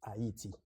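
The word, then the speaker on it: Ayiti: yes uh Haiti is the name is we pronounce it in cray and in French as hati and uh Haiti it was that was the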